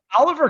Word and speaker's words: Oliver: Oliver Kylington went Yeah. 60. Oh, holy cow. His name is actually pronounced Shillington.